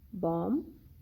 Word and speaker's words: bomb: The letter B is usually not pronounced when it is in the end of the word and letter M precedes it, like comb, bomb, thumb, climb, lamb. In all these words, letter B is not pronounced.